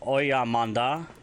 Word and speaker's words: oya manda: Also the phrase oya manda, spelled O-Y-A space M-A-N-D-A, oya manda, can also be used.